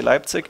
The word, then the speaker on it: Leipzig: on the move to Leipzig pronounced in English was I'd say Leipzig and I think he